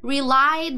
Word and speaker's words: relied: His mother relied on him. E no passado, o relied fica the. A gente não pronuncia o E. Relied.